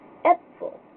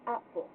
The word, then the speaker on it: Äpfel: So, like, in the A umlaut here, instead of saying you would say A, like, just, like you were saying an E for this one. Like, in the German word here for apples, plural, it's Äpfel instead of apfel.